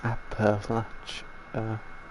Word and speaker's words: Appalachia: You know it's pronounced Appalach, right?